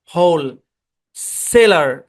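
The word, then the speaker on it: wholesaler: মধ্যে এটা হচ্ছে একটা এটা হচ্ছে হোল কি উচ্চারণ হোল সেলার এখানে ভাগ হবে সেলার সেলার একই কনস দুইবার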